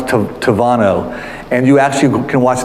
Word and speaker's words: Tabano: But in Spanish, when you pronounce the B, it comes out as a V sound. So it's spelled Tabano, but it sounds Tavano.